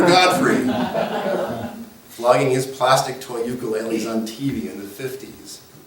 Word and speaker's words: ukulele: Let me tell you about the ukulele. First off, I am pronouncing it wrongly, as most of us hey-oles do. The correct Hawaiian pronunciation is ukulele.